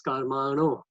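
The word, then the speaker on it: karmāṇo: So when we read this verse, we don't say karma no. The Western people don't have the ana, so they will say karma no. Of course, there's no harm. You pronounce it as best as you can. But my request is that for us Indians who understand the difference between the na and the ana, we should pronounce it properly and say karmano.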